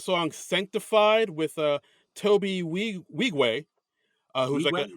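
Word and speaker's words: Nwigwe: Sanctified with uh Toby we wegue uh who that's how we say okay yeah I looked it up I I wanted to make sure I said it right but yeah yeah it's NWI gwe so I'm I look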